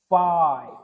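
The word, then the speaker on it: phi: इसका प्रोनाउंसिएशन होता है फाई।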